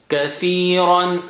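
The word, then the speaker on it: كثيرا: Kathiran. Ran is thick.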